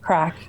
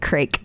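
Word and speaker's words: craic: you have to know the proper spelling of crack i know that it's you know it means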